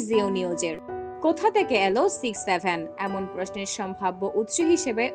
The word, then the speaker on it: 67: সংখ্যা জুটি বা শব্দ সক্স সেভেন এর উচ্চারণ হবে সিক্স সেভেন তবে কখনো 67 নয় কিন্তু জটিল বিষয় হলো